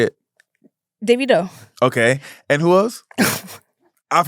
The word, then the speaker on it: Davido: Davido.